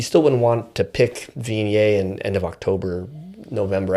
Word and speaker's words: Viognier: Vign, you know, it's really vignet is how we're supposed to say it.